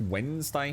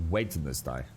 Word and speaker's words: Wednesday: seen it Wednesday Wednesday it's it's pronounced Wednesday pharoh you don't say wedness day at least not in England mate uh let's have a